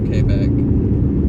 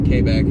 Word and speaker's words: Quebec: Kbeck. Pretty sure they pronounce it Kback in Canada.